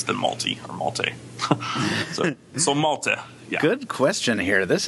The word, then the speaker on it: Malte: Still like the island, but with a short E, so Malta.